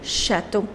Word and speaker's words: châteaux: Les châteaux. So the nouns which end with EAU, you put X to make their plurals, but the pronunciation doesn't change.